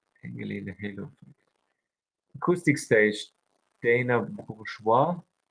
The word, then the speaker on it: Bourgeois: Acoustic Stage, Dana Bourgeois. That's pronounced correctly. Bourgeois. I would pronounce it like that. Like French pronunciation.